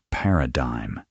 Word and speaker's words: paradigm: A paradigm shift pronounced paradigm is a fundamental change in approach or underlying assumptions.